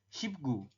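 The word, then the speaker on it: 십구: Berarti dibacanya gimana? Shipgu. Oke, kalau ini tetap teman-teman.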